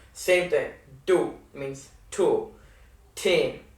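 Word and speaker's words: तीन: Teen. Like teenager.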